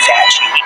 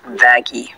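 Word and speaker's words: Vaggie: I named you after the best thing ever fagy actually it's pronounced vaggy no anyway you sure up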